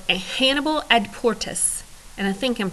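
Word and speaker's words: Hannibal ad portas: double checked it and if I really want to pronounce it like I just heard it pronounced it would be Hannibal at Porter so there you go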